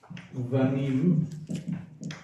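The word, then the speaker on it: בנים: Before that we said ulerachel, shnei vanim is really the way it should be pronounced.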